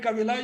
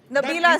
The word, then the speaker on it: Nabila: must also to highlight Cabila. You will bail me out. Nabila, sir, I think you've got my name wrong.